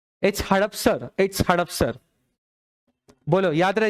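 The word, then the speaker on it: Hadapsar: आर आ रहा है हदस्पर correct pronounce कर रहे हैं हड़प हड़पसर है please check it ऑन द Google इट्स हड़पसर और हदस्पर एच ए डी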